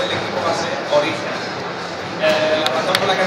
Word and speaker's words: Origen: comienzo y ya mucho tiempo el nombre del equipo va a ser Origen. La razón por la que no la queríamos cambiar era porque en inglés se va a pronunciar Origen.